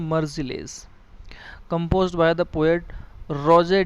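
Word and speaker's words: Rouget: Compose किया था पोएट रोजे डी लेजली ने। लाइजली भी पढ़ देते हैं, लीजली भी पढ़ देते हैं, फ्रेंच नेम है रोजे, टी साइलेंट होता है, डी लेजली।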